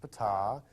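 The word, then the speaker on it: Ptaah: he got to meet P that's pronounced P he is the leader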